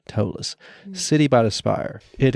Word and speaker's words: Ptolus: it's spelled p-t-o-l-u-s am I right but it's pronounced tollus City by the Spire it is huge I